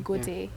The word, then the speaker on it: Goethe: Is that how it's pronounced? The German one? Goethe, yes.